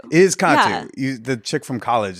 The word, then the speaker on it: Kattoo: And then also, like a lot of Middle Eastern names and words, the emphasis is on the first syllable and not the second.